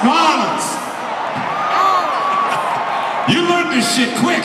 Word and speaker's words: New Orleans: It's not New Orleans. It's New Orleans.